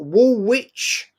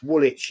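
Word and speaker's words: Woolwich: That you wanted me to meet you at Wool Witch. Wool Witch to go toe-to-toe and you couldn't even spell it. And you told me you lived in wool witch. It's woolitch.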